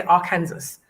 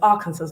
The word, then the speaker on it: Arkansas: let me tell you British people do not know how to pronounce that but they say Arkansas and I remember somebody and I'll say that blushes it was arguing so strongly though it's Arkansas like it's Arkansas so there you go um so welcome Vicky